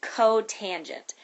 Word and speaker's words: cotangent: loud is secant and this one that says C ot is cotangent so that's how you